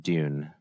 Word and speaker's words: Drune: I think it's pronounced Dune. The R is silent.